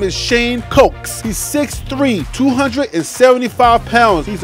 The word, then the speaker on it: Shane Cokes: The next defensive lineman that we got, I got in trouble for pronouncing this one like he was cooking in the kitchen as opposed to the drink. So that next defensive lineman, his name is Shane Cokes.